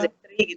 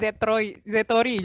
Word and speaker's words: Zetri: Dari Zetri, tapi saya mau ngasih tahu lagi di awal kalau nama saya pronounce-nya yang bagus adalah Zetri gitu ya Din ya. Tolong teman-teman jangan panggilnya Zetori, jangan ya.